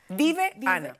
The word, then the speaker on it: Diveana: A los que yo quiero mucho y la aman también a ella, a Dive Ana, porque ese es su nombre, no Diviana, como dice uno. ¿De dónde sale Dive? Dive Ana.